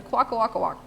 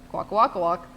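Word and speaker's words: Kwakwaka'wakw: coast of Canada and it's a quaka Waka wak yep quaca Waka walk um so people get always scared of pronouncing this one but if you think like Pac-Man noises quack quack quack then you're good late 19th century so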